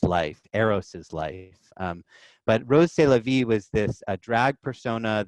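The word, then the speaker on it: Rrose Sélavy: a drag persona named rose c'est la vie spelled RR o SE SEL avy and when you pronounce that with a French accent and in French it sounds like eros c'est la vie I'm eros it's its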